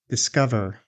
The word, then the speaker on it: discover: Discover. Did you guess the second syllable is stressed? Discover.